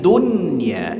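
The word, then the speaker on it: دنيا: Jadi jangan dibaca dunya gak ya tapi dunya izhar bacanya.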